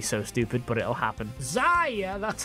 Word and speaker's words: Xayah: XAYAH, that's how I pronounce it, has a sort of Twitch ult on her passive.